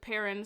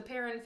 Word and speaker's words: Perron: to interject quickly because i made sure to look up the pronunciation of this family the the paron family is how i've heard it said in videos and i